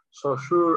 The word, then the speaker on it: Saussure: Bueno, se pronuncia Saussure, algo así, pero lo tenemos muy cool y diciendo, eres el significado de mi significante.